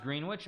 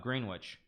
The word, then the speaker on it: Greenwich: It's pronounced Greenwich. I know, Greenwich.